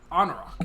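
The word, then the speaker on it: Anauroch: hailed from the I always forget how to pronounce that desert. Anarok. Anarok, yeah.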